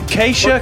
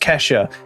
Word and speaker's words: Kesha: him um well done keisha keisha keisha kesha kesha since we've been pronouncing her name wrong the whole time it's it's just kesha and someone's written on